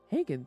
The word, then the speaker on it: Hagen: I think that's it Hagen thank you you pronounce the G and give the same way you pronounce the G in garage he's struggling to be